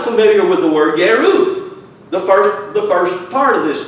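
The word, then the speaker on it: ירו: It's the word Yeru or Jeru. You know, pronounce the J with a Y or I or Yod. Yeru.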